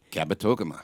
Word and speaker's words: Kabetogama: I don't know how to pronounce the name of the lake. Kabetogama.